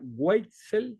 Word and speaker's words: Waitzel: Por ahí, disculpa si pronuncio mal tu apellido, Matías. Sería Weitzel, ¿está bien? ¿Así? Sí, está perfecto.